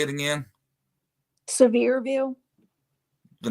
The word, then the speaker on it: Sevierville: right there how do you say it again severe View the name of the town yeah how do you say it uh severe and Bill Sevierville it's rough right there near Pigeon Forge